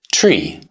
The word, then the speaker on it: tree: 1, 2, tree. That's not a mispronunciation. Because many languages don't use the English TH sound, 3 is naturally pronounced differently around the world. To eliminate those variations and create a single internationally understood standard, the official pronunciation became tree.